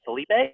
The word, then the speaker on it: Philippe: Is it Felipe or Philippe? It's so there's Philip and there's Felipe, and I'm right in the middle. So in Quebecois, in French Canadian, it's Philippe.